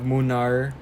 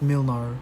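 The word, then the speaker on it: Mlynar: We have Munar. Munar. Yeah. Not Milnar. No, that's not how you pronounce it. He's Polish.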